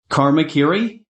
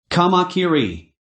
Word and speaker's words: kamakiri: to pronounce the name kakiri what's that supposed to be I gave a swift reply by first correcting her pronunciation kamakiri in one of the